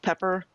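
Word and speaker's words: Peppir: had a um oh pepper my Hobbit minstril is it's p e p p i r but it's pronounced pepper like the plant because Hobbit girls are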